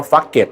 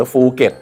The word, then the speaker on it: ภูเก็ต: นั่น เอง นะ ฮะ So ปัญหา คือ ph ที่ จริง แล้ว มัน เป็น เสียง for fun นะ ครับ ซ ฝรั่ง บาง คน ก็ เลย ออก เสียง นะ จังหวัด ภูเก็ต ว่า ฟัก เก็ด หรือ ภูเก็ต น นะ ฮะ ครับ ชาว ไท ก็ ตก ใจ fucket อะไร เนี่ย นั่น นะ ครับ ที่